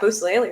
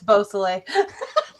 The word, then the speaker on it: Beausoleil: At least I got Busalele, right? It's Beausoleil. Wow.